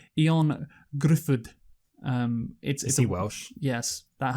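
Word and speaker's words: Ioan Gruffudd: You won't know how to pronounce this name, and you probably won't know who he is. It's like Ion Gruffudd.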